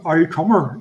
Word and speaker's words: Auldcummer: It was from Crumber, but it was written down on a label that in the vernacular, in the way that the Ulster Scots dialect would have pronounced it. So back in the day, as well as having Old Crumber, there was an Aucummer, which is AULDCUMMER. Yeah, it's the Ulster Scotch pronunciation.